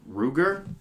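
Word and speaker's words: Rutger: have a hard time I think it is Ruger cuz the T is silent right Ruger Howard that's probably yeah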